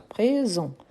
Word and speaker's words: présent: ent mais on prononce présent on ne prononce pas le T euh par exemple on